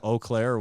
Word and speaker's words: Eau Claire: Bloomington Columbus Denver how do you say it Eau Claire in Wisconsin Fort Collins Indianapolis started oh yeah yeah Eau Claire okay we're there okay Iowa City lacrosse Lawrence